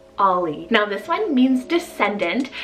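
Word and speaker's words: Auley: name so i have the name ollie spelled a-u-l-e-y ollie now this one means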